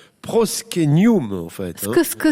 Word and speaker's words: proscenium: la française mais c'est du latin ça se prononce proske new moon en fait qu'est ce que c'est ouais bah